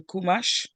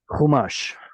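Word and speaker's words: חומש: The only thing I'm coming up with is Stone Edition Tanakh or Stone Edition Kumash. Chumash. Yeah. Chumash Okay.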